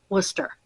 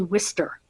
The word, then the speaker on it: Worcester: is how it's pronounced Worcester some people say Worster but there's no I it's Worcester or some people say war sester or War Chester there's no h it's not Chester I can see where